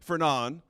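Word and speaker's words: Fernand: friend the main character Edmond his best friend fernan is another French pronunciation you're welcome his best friend betrays him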